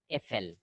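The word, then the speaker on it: Äpfel: Effel. Apfel. Effel. Apfel means singular. If you Effel pronounce plural.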